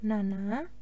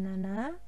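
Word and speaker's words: なな: Hai selanjutnya ada kanji Nanang atau kanji cc Kanjeng Nana atau bisa juga dibaca Cici jadi 1 Panji ini ada dua cara bacanya yaitu Nana atau cc yang berarti angka 17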